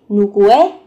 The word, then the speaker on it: 누구의: Từ ư ở đây được phát âm thành e.